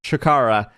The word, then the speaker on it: CHIKARA: I don't know why I say it wrong, but it's CHIKARA.